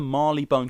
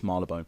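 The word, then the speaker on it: Marylebone: the Marley Bone coach which is spelled marlabone as in the London train with it yeah is it not not Marley bone on the website it says Marley Bone but I think it's marlabone to go by Marla bone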